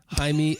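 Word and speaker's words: Jaime: life teacher and and I'm pretty sure this one actually is pronounced not with the J Hae escal lante since we've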